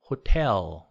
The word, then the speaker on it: hotel: 그런데 guitar, hotel 이거는 기라 또는 호렐 이렇게 T가 R처럼 되지 않아요.